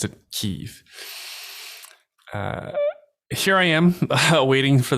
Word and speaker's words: Kyiv: thought the pronunciation was Kiev, but it's actually Russians who say Kiev. Locals to Ukraine, from my understanding, pronounce it Kyiv.